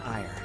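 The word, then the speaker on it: Aegir: person a posh person i am ferdinand von ire legitimate son of the ire family that's how you pronounce us i thought it was pronounced like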